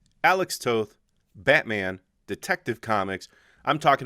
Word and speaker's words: Alex Toth: influences and that's artist alex toth pronounced like both so if you know